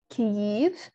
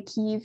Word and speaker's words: Kyiv: today, because it's today Kyiv is the capital of Ukraine. And that's the closest, like that's an approximate Ukrainian pronunciation of that city's name. So the capital was in Kyiv, kind of like here-ish.